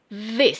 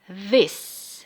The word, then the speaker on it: this: This seperti huruf E. This. Tulisannya memang I tapi dibacanya seperti huruf E. This.